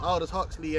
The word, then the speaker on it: Aldous Huxley: And when you go into Aldous Huxley, that's how you pronounce it, Aldous Huxley, and the speech he gave at Berkeley, he